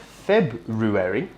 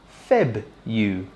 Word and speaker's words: February: So, not February, but instead February.